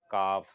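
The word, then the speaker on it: قاف: जैसे इंग्लिश में के और क्यू का फर्क होता है ना, इंग्लिश में क्यू और के लिखेंगे दोनों, लेकिन अलग अलग प्रोनाउंसिएशन में बोलते हैं, उसी तरह ये है। इंग्लिश का समझ लीजिए, ये क्यू है, काफ, काफ।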